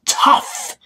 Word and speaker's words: tough: like no no no it's tough tough tough o-u-g-h sounds like off someone else someone else